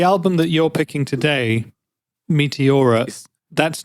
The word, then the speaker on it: Meteora: How do you pronounce it? Meteora.